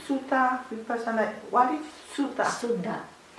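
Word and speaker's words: suddha: Sutta, S-U-D-D-H-A, pure, pure, Sutta.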